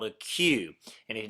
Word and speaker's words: queue: now had to wear their hair in a q it's pronounced Q uh which is a hairstyle traditional